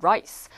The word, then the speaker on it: rice: rice. 그런데 내가 발음 잘못해가지고 rice 먹었다 그럼 rice, L-I-C는 뭐냐면 막 몸에 기어다니는 이예요, 이.